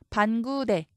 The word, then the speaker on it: 반구대: 넣어 줄 수 있고요 반구대 이것 역시 방 우대 이렇게 읽을 수가 있어요 그래서 여기에 붙임표 넣어